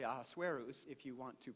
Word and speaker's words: Ahasuerus: After all these things, the king, whose name is pronounced actually Ahasuerus, if you want to pronounce it, but since that's so difficult, we can just refer to him as Elvis.